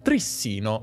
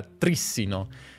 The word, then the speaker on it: Trissino: che per molto tempo ho letto il suo cognome Trissino un po' come un grissino, forse perché sono torinese. Prima di imparare che in realtà si pronuncia Trissino. E questo perché io ho sempre letto il suo cognome, non l'ho mai sentito, e in italiano la pronuncia Trissino, con l'accento sulla penultima sillaba, è naturale. Ma è sbagliata.